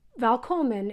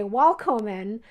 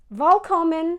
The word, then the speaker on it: Välkommen: And whenever I say something in Swedish, I tend to forget, and I'll use a W instead of a V.